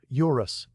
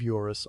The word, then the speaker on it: Eurus: "Eurus," he says, and his voice drops slightly on the second syllable as if the word itself is descending from a height.